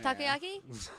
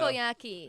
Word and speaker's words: takoyaki: Oh, takoyaki?